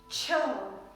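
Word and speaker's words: छह: this number is sure Cho this word is pronounced like Cho Cho for this word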